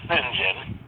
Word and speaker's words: St John: called singen Terell M St John but pronounced singen and for 20 years